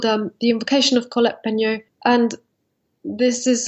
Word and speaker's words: Peignot: I might mispronounce Colette's name here, but it's called The Passion of Colette. Is it Peignot? Peignot.